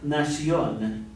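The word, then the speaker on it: nación: it's singular la nacion and that's because words that end in anything but an l r or D normally have an accent on the next of the last syllable so if it doesn't end an L an r or a d and uh the accent falls on that last syllable you have to put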